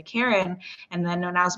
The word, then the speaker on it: Kären: name is actually pronounced karen your face well they actually they've always pronounced it that way my mom her first language is french so it is pronounced a little bit differently when she says it